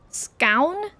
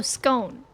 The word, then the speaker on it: scone: Scown? Scown? Oh, scone. It's Posh Londoners. What can I say? Interrupt. You're not. I have heard the scone gone pronunciation and that sounds like the Posh one.